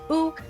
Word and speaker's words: U: The U tribe was the first Miqo’te Seeker of the Sun tribe that we got to visit. Pronounced Ooh and representing the Drake,